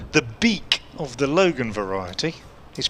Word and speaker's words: Beek: dbkate she says the beak of the Logan variety is pronounced bake two e's together in Dutch is pronounced as an a thank you Ms Brown